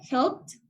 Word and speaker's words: helped: el pasado sería helped aquí se pronuncia como la t helped porque termina en p siempre que termina en